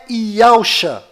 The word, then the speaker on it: Yahusha: E a pronúncia é Yahusha.